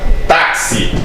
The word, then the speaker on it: táxi: A letra X, em determinadas palavras, terá som de KS, ou seja, dobrará o fonema, tá?